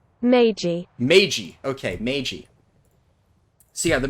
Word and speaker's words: Meiji: meije restoration how do i is there a pronunciation meiji okay meiji so yeah the meiji restoration which